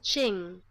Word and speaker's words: Qing: of how to pronounced how to pronounce the cue ing let's let's see here let's see is it gonna work is it working Oh Shing its Shing okay Shing Shing okay so the Shing Dynasty